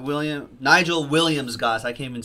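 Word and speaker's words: Nigel Williams-Goss: and one of them will be with Liam Nigel gas of course not William Nigel Williams Goss I came and say his name right I've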